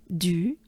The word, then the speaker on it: du: Col du, I know, it's not de, but it's U. It's funny sound, right? U basically is, to pronounce it, you just drop your jaws. And your mouth is opened, but it's a very small opening. So it goes like this. U, and du, right?